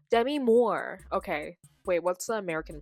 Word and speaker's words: Demi Moore: Pronunciation. Demi Moore. Demi Moore.